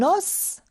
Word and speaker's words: os: dois savoir et retenir un os s est prononcé au singulier fais très attention mon enfant avec moi s'il te plaît alors là on doit savoir et retenir un la lettre S est prononcée au singulier au pluriel on dit des e le S n'est pas prononcé au pluriel attention à la prononciation